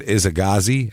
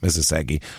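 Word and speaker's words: Isaszegi: Robert Isagagi, or Isasagi, that's his name, Isasagi, fights him, beats him.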